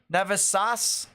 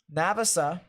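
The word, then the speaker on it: Navassa: over near Leland and navesa or navis navasas wow I can't say it right now Navas uh navasa there you go got it right the fifth sixth seventh eighth time navasa and Leland if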